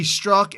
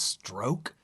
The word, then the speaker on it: Strzok: Is that pronounced stroke? You say it's pronounced Strzok. Everybody's calling it Strzok. It's okay, STR. It's probably Strzok.